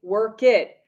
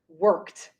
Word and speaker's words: worked: however my friends remember the verbs that need id because work ends with a k we never say work it so this is incorrect but if you can